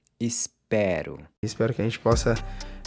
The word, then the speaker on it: espero: So here, the pronunciation of the E changes from closed to open in the I form as well. I hope is eu espero.